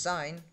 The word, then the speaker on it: sin: Sin, pronounced sine, cos, pronounced cosine, and tan, pronounced tangent.